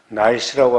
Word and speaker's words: NEIS: 이 학생 관리에 관해서는 또 다른 우리 교육행정정보를 관리하는 시스템을 NICE라고 합니다. 교육행정정보시스템 NEIS, 독일어식으로 발음을 한 건데, 아무튼 이 매월 학교에서는